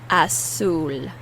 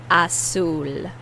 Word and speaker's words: azul: Azul. Azul. You put more emphasis on the U. Azul. And the Z is pronounced as an S.